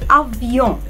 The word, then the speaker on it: avion: الكلمه الاولانيه كانت كلمه افيون. افيون، يون. عايزه المقطع ده يتنطق من هنا. طب ازاي انطقه من هنا وانا لسه ما خدتش قواعد الصوتيات؟ هنعمل حركه بسيطه، هنعمل كده ونحاول ان احنا نخنف او كان عندنا برد او مسكومين، فهنطلع الصوت اخنف شويه.